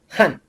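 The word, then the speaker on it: 汉: pueden ver arriba y cuál es su transliteración a las letras del alfabeto que manejamos h a n y una tilde hacia abajo que lo llamamos tono 4 que después lo veremos Jan Esta es la etnia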